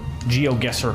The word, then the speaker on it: GeoGuessr: GeoGuessr.